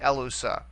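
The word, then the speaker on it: ἔλυσα: short vowel as well so here can go all the way back to the beginning so we would accent it right here on their very first syllable or the anti pen alt to get a Lusa ello so so you see the accent there on the first syllable okay a lousã all right next word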